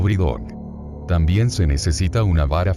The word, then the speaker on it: Brideog: Ver fotografía 6, a estas muñecas se las llama Bidi, o si prefieren gaélico, Brideog, pronunciado Bridog.